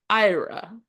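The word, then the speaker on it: Éire: land of your fathers it's Ira which is spelled similar to Erie right and that's when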